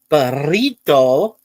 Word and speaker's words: burrito: There's also two Rs. So, when you said burrito, yay, I did it. So, yeah, you have to spread it like that. You have to say the word like that with two Rs together.